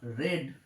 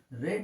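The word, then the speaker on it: read: যেমন ধরো এখানে বলবো the books are রেড। রেড মানে আর ই এডি, এই বানানটাই থাকবে, কিন্তু এটার উচ্চারণটা হবে রেড। এখানে উচ্চারণ হবে রেড, এটা রিড বলবো না।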